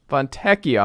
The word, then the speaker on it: Fontecchio: Fontecchio, I guess, is the right pronunciation. If it's ECCIO, it's Ek. Yeah. Fontecchio.